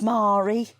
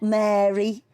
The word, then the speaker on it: Mari: try to tell him it's marie it's not mary or marie it's mari i could